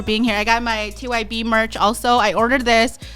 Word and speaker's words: TeawhYB: showing infants emphasis that the capitalized letters are the ones that you actually pronounce for the most part and that's this is actually this was my way of telling people how to pronounce tyb it's very thoughtful and